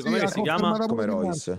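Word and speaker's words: Rois: Come Royce. Si scrive R O I S, Royce.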